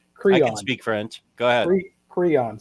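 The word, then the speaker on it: Creon: speak french go ahead crayon c-r-e-o-n crayon like the the little coloring stick crayon there you go so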